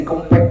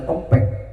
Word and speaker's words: Kempek: Kan tulisannya K E M P E K. Orang yang enggak tahu itu huruf E bacanya apa? Kempek. Benar, Pak. Ini mah e tulisannya K E berarti kek di depannya M jadi kempek atau pakai E dua-duanya jadi kempek.